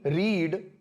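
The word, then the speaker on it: read: Verb की तीनों form, रीड की रीड, रेड, रेड, तो सेकंड दिखने में सब एक जैसी होती हैं, लेकिन फर्स्ट और सेकंड और थर्ड के जो प्रोनाउंसिएशन है वो अलग अलग है।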